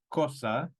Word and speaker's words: cosa: bien problema say Cosa so for C we have two c sounds in Spanish we have a hard C as in Cosa and the soft c as in Cerro the hard C comes before a o and u and the soft C before i and e also the C is